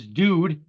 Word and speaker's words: Dood: I just love the fact that the guy's name was Dude, but he didn't spell it D-U-D-E. I love D-O-O-D. Nice. Nice. That's like I gotta take a dude.